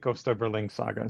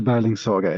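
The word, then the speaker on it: Gösta Berlings Saga: you also for the I've been calling it Costa Berlin Saga. So, I appreciate the proper pronunciation. Yeah, just the Bing Saga. It's a it's a tricky one, I guess, for for an English native speaker to say.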